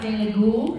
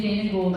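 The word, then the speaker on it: Dana Gould: named Dana G Dana it's pronounced Dana ghoul but similar Dan girl name Dana gold I can see how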